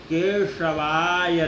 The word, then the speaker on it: केशवाय: तो यहाँ पे तालव्य है जिसको बड़ा स कहते हैं, दीर्घ स कहते हैं। तो हमको उसको जीह्वा को जो है ऊपर ले जा करके उसको अपने तालु में स्पर्श कराना है। उसके बाद में बोलना है श, केशवाय नमः, केशवाय नमः, ओम केशवाय नमः।